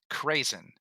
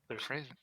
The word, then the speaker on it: Krazen: the wrong place is Krazen, Krazen. Oh, dude, those are delicious. I was thinking the exact same thing. Well, you got to tell me now. What, craisins? They're Krazen.